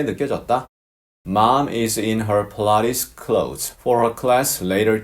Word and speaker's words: Pilates: 필라테스라고 우리말로 발음하지만 영어로는 Pilates 이렇게 표현합니다. 약간 좀 발음이 차이가 있죠.